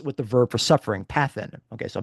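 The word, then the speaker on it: παθεῖν: Greek uh mathan uh is actually uh it rhymes with the verb for suffering pathn. Okay. So matan and pathan.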